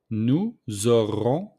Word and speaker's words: nous aurons: So we make the liaison between nous and auront with the S. So the S became mostly the Z. So nous aurons.